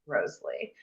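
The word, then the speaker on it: Wriothesley: Southampton's name, Henry Roseley, was supposed to be pronounced Roseley.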